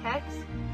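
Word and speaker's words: kex: called hex hlo it's it's spelled k x but it's supposed to sound like hex and then hlog is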